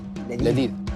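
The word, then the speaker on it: لذيذ: How do you say delicious in Arabic? Ladid. Navid? Ladid, yeah. Ooh, Ladid.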